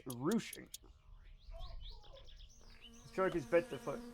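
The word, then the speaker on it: ruching: It's apparently pronounced rouching.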